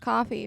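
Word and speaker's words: Ko-fi: yeah that thing well spelled with a K it's weird yeah but it's pronounced coffee because their slogan is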